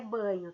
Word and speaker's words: Bagno: define língua turma ele nós escrevermos bagno neco g mudo mas a pronúncia é banho tá marcos banho a